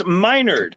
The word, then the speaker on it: Menard: we typed menard nothing is m-e-n-a-r-d like it's it's minored it's they missed they